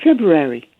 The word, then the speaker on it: February: emphasize the r but I say February as a soft R so you do pronounce the r yes okay so we're